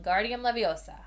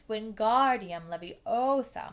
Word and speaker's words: Wingardium Leviosa: much more luck when Guardium Leviosa he shouted waving his long arms like a windmill you're saying it wrong Harry heard her Marnie snapped its Wingardium Leviosa make the GAR nice and long you do it then